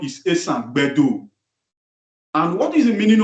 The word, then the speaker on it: Esanland: Esanland, the original pronunciation is Esanland.